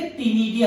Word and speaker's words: ctenidia: Mollusca में जो gills होते हैं उसे टीनिडिया कहते हैं, टीनिडिया, स्पेलिंग को ध्यान रखेंगे, CTENIDIA, इसको टीनिडिया कहते हैं, सी इसमें साइलेंट रहता है।